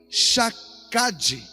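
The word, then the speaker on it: שקד: sua palavra se cumpra a palavra velar no hebraico se pronuncia jacadi jacadi significa guardar proteger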